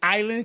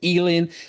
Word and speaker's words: Island: The right way to pronounce it is island? Because I know some people, Coach AB, will say Eland, but it's island. So make sure you guys know it's Island.